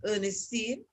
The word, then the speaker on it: Ernestine: Okay, so my name is actually pronounced Ernestine, and I accept anything because I have heard many variations of it.